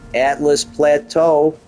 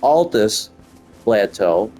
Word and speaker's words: Altus Plateau: and here we are Atlas Plateau or Altus I don't know why I'm calling it Atlas Altus Plateau I may even spelled